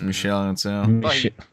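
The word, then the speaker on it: Michel Ancel: enel it's Michelle right the French the French pronunciation is Michelle enel Michelle Melle and is he coming back I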